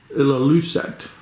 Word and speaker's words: Ilulissat: We're here for 2 nights and we're about 4 hours back to, how do you pronounce it? Ilulissat.